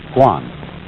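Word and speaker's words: 觀: that means seeing and the whole character is pronounced Guan and it means a certain kind of observation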